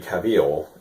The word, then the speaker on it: Cavill: Um, just gonna talk about Superman, specifically the newest Superman, Henry Cavill, and that's how you pronounce his name.